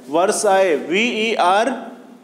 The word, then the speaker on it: Versailles: इसका right answer है वर्साई, VERSAILLES, वर्साइज, एल इसमें साइलेंट रहेगा, वर्साई।